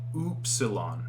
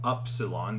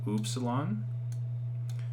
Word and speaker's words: upsilon: trick trip people up this is oop salon not upsilon this can be confusing it's not up it's salon and i gave the example like the double o sound oopsilon okay almost done here we